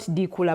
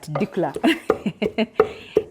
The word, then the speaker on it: dikla: So that dikula food you take is not dikula, but dikla. Dikla. So yeah, the pronunciation matters.